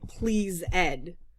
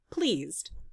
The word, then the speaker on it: pleased: We don't say please Ed. We do sometimes, but most times we say pleased. Pleased to meet you. That's one syllable.